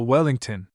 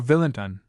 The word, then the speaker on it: Wellington: Oh, Wellington or Villinton, for fame sounds the heroic syllables both ways.